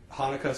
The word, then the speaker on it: Hanukkah: That CH is not a ch, it's a sound. So that's why you'll see Hanukkah spelled that way. So it's Hanukkah, not Hanukkah.